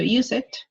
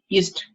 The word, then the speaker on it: used: Yo no estoy diciendo use it, sino used to. Used.